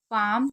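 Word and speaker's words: palm: बार यानी कि युद्ध पाम यहां पर एल साइलेंट है तो पाम का मतलब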